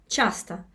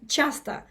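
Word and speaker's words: часто: The Chastushka, the word, comes from chasto, which is in Russian often, chasta. Right, Justin, is that right? Chasta. The best way to pronounce it is chasta, often.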